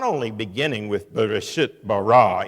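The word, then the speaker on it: בְּרֵאשִׁית בָּרָא: In the middle of the initial poem about the creation narrative, we are not only beginning with Bereshit bara, in the beginning God, so we have BB sound, but then a little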